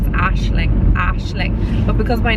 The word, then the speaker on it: Aisling: the people in the audition kept calling me Aisling and kept repeating Aisling. No matter how many times I correct them, I was like, it's Aisling, Aisling.